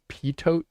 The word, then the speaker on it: pitot: And the problem is when you take measurement of an airflow, I'm using what's called a pitot tube. It's spelled pitot tube.